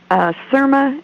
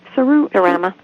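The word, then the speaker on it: Serama: And I've got one that's a Surma. How do you say it, Ronnie? Surama.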